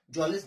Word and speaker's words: Mjolis: cards निकालते हैं and played जॉलिस, am silent है, MJOLIS, जॉलिस नाम का एक गेम